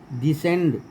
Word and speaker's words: descend: डिसेंड, DESCEND। Disciple, DESCIPLE। Science, ये तो सब लोग जानते हैं। एस के बाद सी रहता है, सी का उच्चारण नहीं होता।